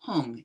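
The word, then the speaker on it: hūṃ: On top of that moon disc stands a white syllable hung, H-U-M, standing upright, unless you know the Tibetan syllable.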